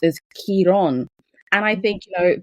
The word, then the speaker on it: Chiron: typically we refer to Kairen as, you know, Kairen, the Latin translation or the way we say in English, but in Greek it said and it's pronounced as Kiron.